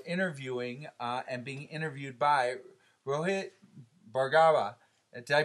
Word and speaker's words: Rohit Bhargava: We have the pleasure of interviewing and being interviewed by Rohit Bhargava. Did I pronounce that right?